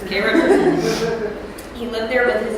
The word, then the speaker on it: Cairo: Now, it's actually spelled like Cairo, Egypt, but everybody there pronounces it as Cairo, so that's what I'm going to do. It's Cairo.